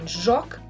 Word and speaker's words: joc: Now, the next one, zh, I'd like you to pay attention to this one because it is different from the English j. It's not j, it's zh. Zh in joc, which is game, ajutor, which is help, camouflage, which is the same, camouflage, yeah? Pronounced as the English S, but in pleasure or leisure, all right?